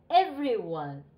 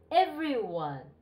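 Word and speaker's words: everyone: 入ってますねエブリィはは一番最初にアクセント復帰ますエブリィ 1 エブリィ 1 家ましたか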